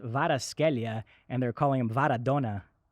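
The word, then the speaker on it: Kvaratskhelia: european football right now it's pronounced vada scalia and they're calling him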